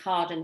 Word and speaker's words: Carden: today from anne we've got the lovely ann cardin with us today have i pronounced your name right anne you absolutely did